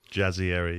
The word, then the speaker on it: Jazayeri: Jazzieri.